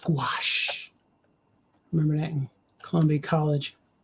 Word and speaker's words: gouache: Like, but gouache is spelled, and it's a French type of paint, but it's mostly spelled like gouache, but it's pronounced gouache.